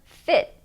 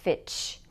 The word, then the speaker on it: fit: But be careful not to pronounce these words with a ch sound at the end. For example, it's not correct to say fitch.